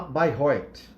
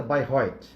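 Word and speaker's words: Bayreuth: 2018 tá se chama Bairro Oitis é se Bairão né mas a pronúncia certa by Roy tá ela ficava ela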